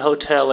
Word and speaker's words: hotel: Vejam aqui que a segunda sílaba é forte. Hotel.